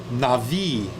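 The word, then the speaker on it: נביא: it's going to be because the bet is a v sound there's no zagesh lenny inside of the bed so b becomes v as victory with an i at the ending a long i so na vi navi so what does navi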